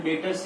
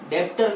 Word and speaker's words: debtor: सबसे पहला जो डेटर्स है उसको हम हिंदी में बोलते हैं देनदार। डेटर्स का सही प्रोनाउंसिएशन गाइस डेप्टर नहीं होता है, डेटर होता है।